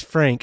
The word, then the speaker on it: Phranquue: fact that his name is Frank and it's spelled Phranquue, I'm already in love with it.